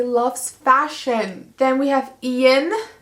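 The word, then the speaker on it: Ean: fashion then we have ian who is spelled e-a-n some guy named fox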